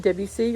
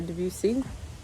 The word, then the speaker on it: Debussy: was another composer named Claude Debussy or Debussy it's acceptable to pronounce it both ways he is what we